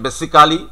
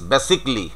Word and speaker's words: basically: তো এখানে আমি যে শব্দগুলো একটু আগে বললাম, এই যে আমরা যেটা উচ্চারণ করছি বেসিক্যালি, তো ইট ইজ বেসিকলি।